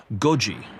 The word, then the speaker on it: Goji: They nicknamed Godzilla Goji, which rhymes with the Japanese phrase for 5 a.m., to highlight how making Goji come to life meant being at work until 5 a.m.